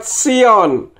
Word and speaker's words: Sion: bahasa Indonesia itu S misalkan Sion hurufnya Shade dan Nun akhir maka bunyinya seharusnya Sion tetapi oleh orang yang menerjemahkan bahasa Inggris dalam kitab suci menulisnya Z ion sedangkan dalam bahasa Indonesia Sion kemudian yang berikut adalah